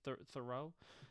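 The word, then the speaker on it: Theroux: I don't know what he thorough, that's how you say his name.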